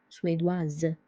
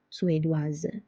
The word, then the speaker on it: suédoise: Suédois, suédoise, suédoise. Because S is between two vowels, I and E, it's pronounced as Z. Chinoise, suédoise.